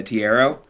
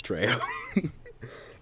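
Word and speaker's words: Trejo: Well, either way, I would be played by Danny uh Tiierro or Machete. Danny, Leonardo DiCaprio. Yeah, I I don't know how to say his name. I think it's Treyo.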